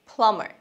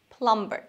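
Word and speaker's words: plumber: নাম্বার ওয়ান, পানির মিস্ত্রি, ইংরেজি প্লামার, প্লামার নট প্লাম্বার, beta silent প্লামার।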